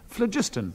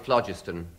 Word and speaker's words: phlogiston: He's pronounced it wrong. It's phlogiston. No, it isn't. He's got no idea. I mean, he's had no education. I don't know where they dragged him up from. I really don't. No, when I was at school, I was told it was phlogiston, and it was P-H-L-O-G-I-S-T-O-N. Everyone knows you pronounce it as in flog. Phlogiston.